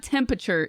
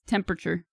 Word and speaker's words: temperature: cute do you but do you say the first R in temperature it's no it's not temperature it's temperature the r is smooth and lazy I loved